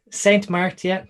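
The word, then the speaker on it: St. Martin: ain't march or st it's like saint martin dean saint martin okay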